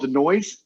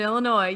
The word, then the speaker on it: Illinois: like oh my god do you call it the noise he was like no that's not how you say it he's like oh i'm sorry like i offended you there's no noise in illinois yeah we're kind of